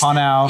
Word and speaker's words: Pnau: I hear like Pinau, or how do you pronounce that? Yes. Panau.